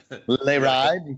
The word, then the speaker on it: Le Ride: Le Ride, yeah. The French pronunciation.